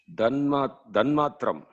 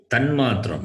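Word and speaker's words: तन्मात्रम्: Danmatram. Tanmatram, not the. It is ta.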